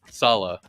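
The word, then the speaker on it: Saleh: name always confuses me because the way it's written is not how it's pronounced so I that's how my brain works interesting Salah yeah Salah Salah to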